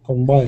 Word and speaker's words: combine: Yeah, you can say co, but if you say co and not k, you should be careful not to stress it, but that's good. Combine. Yeah, the second syllable is the stress too.